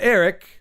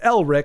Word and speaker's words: Elric: that except for of It's not Eric. So, you got Elrich.